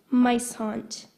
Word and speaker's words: muishond: Mice haunt, Mice haunt. Can I have the definition, please? either of two southern African weasels that emit a fetid odor when disturbed. Mice haunt.